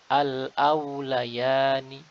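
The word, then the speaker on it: الأوليان: Demikian juga harus kita perhatikan pengucapan huruf waw sakinah yang sebelumnya fathah. Pastikan bibir kita menguncup atau uh, terdomahkan sehingga sempurna. Tidak terbaca menjadi al-au, au menjadi seperti au. Harusnya al-au, al-aulayani.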